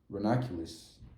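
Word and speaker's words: ranunculuses: is pronounced. Renoculus.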